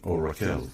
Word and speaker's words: Raquel: it's named simply after your wife, Raquel, or Raquel as it's spelled in English.